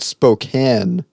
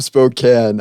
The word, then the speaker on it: Spokane: It's called Spokane.